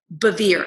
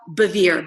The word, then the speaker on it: Bevere: just checking out lisa bevere and you think how in the world do you spell that it's just like severe but with a b so lisa bevere b-e-v-e-r-e and instagram is